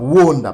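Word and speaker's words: וְעֹנָה: pardon c'est pas mais ça se prononce ona pardon wonda pardon parce que nous avons le va le dalet.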